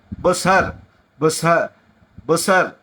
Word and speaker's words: Bushehr: मैं आपको बता दूं BUSHEHR, EH के बाद PER नहीं है, H के बाद केवल R, बुसहर बुसहर बुसहर ऐसा वो प्रोनाउंस होगा। ओके, तो यहां पर, और